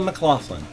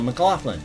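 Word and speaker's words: McLaughlin: first off to Mclofflin. That's the way I would pronounce it. M C L A U G H L I N. Mclofflin.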